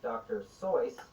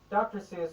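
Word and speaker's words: Dr. Seuss: dr seuss which originally is supposed to be pronounced dr soyce but i'm not going to say that because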